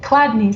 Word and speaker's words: Chladni: and you'll have to help me with the pronunciation of this, it looks like it's like Chladni singing. Oh yeah, Chladni singing.